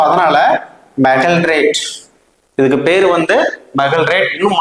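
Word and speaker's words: magaldrate: அடுத்த ஆன்டாசிட்ஸ்ல நம்ம பார்க்கக்கூடிய 3வது இன்ஆர்கானிக் ஏஜென்ட்ஸ் என்ன அப்படின்னா, ஒரு சில பேர் ஒவ்வொரு மாதிரி இதை ப்ரொனவுன்ஸ் பண்ணுவாங்க. ஸோ மெகல்ட்ரேட். மெகல்ட்ரேட் அப்படின்னா சிம்பிளா மாலிகுலர் ஃபார்முலாவும் அதனுடைய பேரும் வந்து மனசுல பதியணும் அப்படின்னா கொஞ்சம் சிஸ்டமேட்டிக்கா படிக்கணும்.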